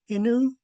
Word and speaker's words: Hinu: Hin and U are pronounced as one word. So I have it typed in phonetics as one word. Hinu, Hinu.